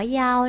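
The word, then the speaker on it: 幺: พูด ว่า อี ค่ะ ใน การ บอก เบอร์ โทรศัพท์ ใน ภาษา จีน เลข 1 จะ อ่าน ว่า เยา นะ คะ ตรง นี้ ต้อง จำ เอา ไว้ นะ ไม่ ใช้ คำ ว่า อี นะ คะ แล้ว ดู คำ ว่า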